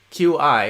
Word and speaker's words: qi: then you're at the right place because chi q i is actually pronounced qi in chinese and chi will help